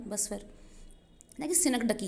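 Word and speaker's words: synecdoche: जैसे वो जो मैंने आपको क्रिकेट वाला एग्जाम्पल दिया था वो यहाँ आया मिलेगा, वो थी सिनक डकी। इसकी प्रोनाउंसिएशन ध्यान से देखिएगा, क्या बोलते हैं इसको?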